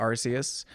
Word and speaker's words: Arceus: thoughts first thought is it's definitely arceus um but this there was a twitch streamer i saw a video of and he made an excellent point why they called it arceus because they call it the arc phone but if it was arceus it would be the arsephone and uh mom i